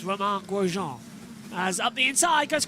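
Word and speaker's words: Romain Grosjean: They called him uh what what do they call him? Uh Roma Gene. I was like, "No, it's Roman Gujon as up the inside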